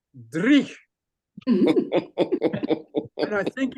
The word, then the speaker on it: dreich: So I said, there's a Scottish word, and I don't know how to spell it, but it's called dreich. And I think it's spelled D-R-E-E-C-H.